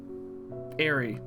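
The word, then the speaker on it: Aerie: Airy. That's how it's pronounced.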